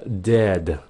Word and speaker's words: dead: Phát âm là dead, dead. Cái chữ D trong tiếng Anh các bạn phát đầu lưỡi, đừng có phát trong cổ họng là như tiếng Việt của mình nha.